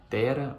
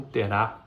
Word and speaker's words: Terá: com a história de Tera ou terá depende da pronúncia não tenha tempo então